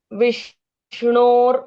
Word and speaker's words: विष्णु: विष्णु बोलना है आपको। तो यहां पे णो का उच्चारण है। बाण के ण के साथ ओ की मात्रा लगती है। विष्णु विष्णु नॉट र विष्णु है ना विष्णु विष्णु डी के ऊपर जो रे